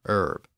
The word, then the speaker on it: herb: The problem was that silent H, which English had inherited from French in words like honor, honest, hour, and herb.